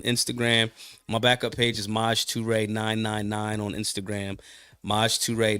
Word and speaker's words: Maj Toure: How do I say it correctly? Maj Toure? Toure, yeah. Maj Toure in the building.